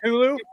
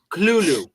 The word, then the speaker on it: Cthulhu: It's just Hulu. Like the TV series Hulu. No, Kulu. Kulu. Like I'm going Kulu. Okay. Do you want your name to be Kulu? You're not being a Kulu.